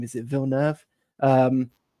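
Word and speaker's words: Villeneuve: Is it Vilner Nurv? Um, Vil Nurv.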